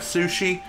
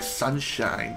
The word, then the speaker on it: Sushi: Funny enough, when I was younger and first met Sushi, I mispronounced her name as, like, Sunshine.